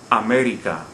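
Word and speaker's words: América: look at this example america the word ends in a vowel america we don't stress the second the last syllable as the rule would require we stress the third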